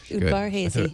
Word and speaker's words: Udvar-Hazy: The Udvar-Hazy. Udvar-Hazy. Is that how you pronounce it? Yep, Udvar-Hazy.